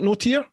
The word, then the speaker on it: Notier: and Marissa not it's notier is it noer that's correct that's how you pronounce it yeah and Marissa NOA from noers Frontiers if you haven't heard uh